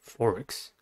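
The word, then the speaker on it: thorax: with the first word forex forest has a two syllables and the stress is on the first one the first syllable is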